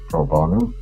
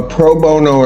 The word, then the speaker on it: pro bono: Uh, I may not be pronouncing that correctly. A lot of denture work done. Proono. Proono attorney. Yes. A pro bono attorney.